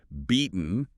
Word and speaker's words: beaten: Beaten often gets that glottle stop sounding like being off the bean path.